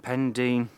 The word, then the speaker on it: Pendine: the Sea next to Paul Dean pendine pendine pronounce it correctly pendine you're on camera now sorry I don't want